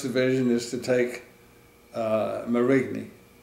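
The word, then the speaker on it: Marigny: that the first division is to take uh murray me spell that m-a-r-i-g-n-y and that's just outside of saint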